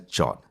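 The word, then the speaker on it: JWT: sam'l and today is JSON web token pronounced as jot however I always get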